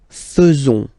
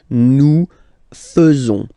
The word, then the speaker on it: faisons: So it's quite strange because French people tend to pronounce faisons. Okay, so like here, this AE is not pronounced like normally we should pronounce it like E, but then like E. Okay, nous faisons, nous faisons.